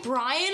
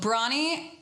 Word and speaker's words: Bronnie: people who were like what's your name Brian I'm like no six form first drama lesson bad memor so bronnie her latest single it